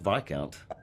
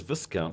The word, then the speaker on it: Viscount: I didn't know that Vic Count was pronounced Vic Count. Um I thought I thought it was Viscount because it's spelled like discount and I was like